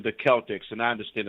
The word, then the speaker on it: Celtics: to announce it that the team is named after the Kelts so when you take